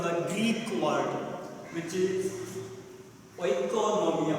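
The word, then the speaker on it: οἰκονομία: Now, economics is derived from the Greek word, which is oikonomia. We can pronounce it how it is.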